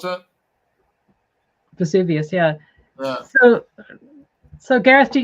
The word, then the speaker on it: Vesuvius: Or how do you pronounce that? Vesuvius, yeah.